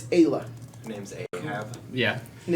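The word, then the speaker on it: Eibhlea: Ayla. How do you And say you Nice. remember how to spell it. Okay. E-I-B-H-L-E-A. Okay. Taste your own medicine. H-L-E-A. L. That's Ayla.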